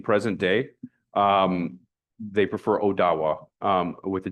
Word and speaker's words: Odawa: um when you're interacting with an indigenous person in present day um they prefer odawa um with a d with a d sounding verses versus a t.